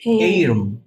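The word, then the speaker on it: arum: ইংরেজি কি অ্যারম লিভস আবার অ্যারম লিপস একটু উচ্চারণটা ঠিক করে দিচ্ছি ওকে স্যার অনেকে আমরা এটাকে অ্যারম লিভস বলি অ্যারম না আসলে এইরম এইরম বলেন আমার সাথে এই রুম এইরম লিভস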